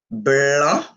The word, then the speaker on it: blanc: Bleu, blanc. Le C, c'est silent. You don't pronounce it.